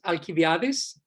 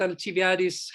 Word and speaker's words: Alcibiades: The name of that person was Alcibiades, I think you would pronounce it in English.